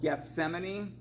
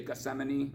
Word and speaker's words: Gethsemane: a gene is called Gethsemane um so you can pronounce all the letters but a lot of times people just say Gethsemane or something but yeah that's the